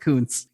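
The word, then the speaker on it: Kunce: In a piece by Politico, he's like, it's pronounced Kuntz. If you pronounce it the other way, you might get in trouble.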